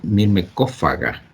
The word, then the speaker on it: Myrmecophaga: de los hormigueros, el Myrmecophaga, o sea, el pH se pronuncia como F en el latín, así se debe leer como F, la pH es como debe ser. Entonces, a veces los gringos